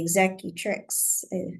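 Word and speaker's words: executrix: just a will and the you know the exact tricks that's how you say it yeah um didn't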